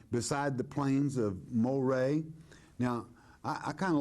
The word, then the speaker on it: Moreh: But Moreh, and this is the proper pronunciation, quite frankly, in Latin for Murray is Moreh, all right?